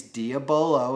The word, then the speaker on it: diabolo: last couple years doing this is that these diabolo and that is how it's pronounced to know a couple you guys wanted to correct me last time but diabolo shaped pellets tend to fly very well between